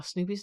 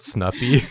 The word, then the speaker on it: Snoopy: Wow, Snoopy's never looked so defined. I really love this. That's how serious he is. That's how tough he is. He's so tough, man. It's pronounced Snoopy. Not Snuffy.